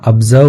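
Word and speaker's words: observe: डे हर दिन ही ऑब्जर्व ऑब्जर्व नहीं पढ़ते कुछ पढ़ते हैं चलता है लेकिन सही उच्चारण ब्जर्व होता है ब्जर्व वह देखता था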